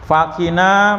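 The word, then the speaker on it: فَقِنَا: Fakina, maka selamatkanlah kami. Yang selamatkanlah kami itu yang ki-nya itu Pak, yang di tengah itu.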